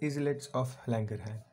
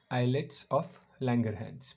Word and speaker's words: islets of Langerhans: is more correct okay eyelets of langerhans pronounce it like this s is silent here like the s is silent in the word island island is i s